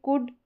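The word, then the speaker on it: could: जैसे ये देखिए कुड, शुड, वुड, ठीक है, अब इसमें जो है ऊ का साउंड शॉर्ट आ रहा है।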